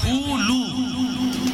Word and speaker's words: হুলু: বইয়েতে লেখা আছে হুলু, উচ্চারণটা হবে হুলু, উচ্চারণটা উলু নয়। এই কীর্তনীরা এই ভাষাটা কিন্তু হুলু বলে, উলু নয়, হুলু।